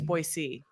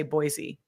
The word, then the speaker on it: Boise: it's boise okay there's no z in boise okay it's boy c okay just you know you're gonna know people will know you're not from here if you say boise and you don't want